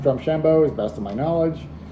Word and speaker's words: Drumshanbo: Today's main review is going to be drum shambo uh Irish whiskey and it's from their pino